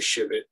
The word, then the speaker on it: civet: They don't want to come and beat the civet. Why do you keep saying shivet? The locally, how do you say civet. It? Civet. Civet. Yeah, C-I-V-E-T.